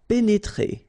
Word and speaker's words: pénétrer: pénétrer. Okay, remember here, accent aigu and then accent aigu. So you pronounce it E, pénétrer.